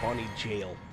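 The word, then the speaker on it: Bonny Gaol: Or Bonnie Jail. It's actually how that's pronounced, I believe.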